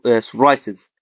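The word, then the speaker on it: psoriasis: طيب لو جه الاس وراها بي أو البي بعدها اس، هنا في الحالة دي البي بتبقى سايلنت. تمام. يعني إيه؟ يعني بننطقها اس على طول. زي إيه مثلا؟ سايكاتريك. سايكاتريك طبعا معناها اللي هو إيه الطب النفسي، أو سايكولوجي علم النفس، أو سورايسز.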